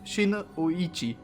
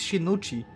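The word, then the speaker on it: Shinichi: shinuichi and it's wrong it's not Shina oichi it's shinuchi and I checked the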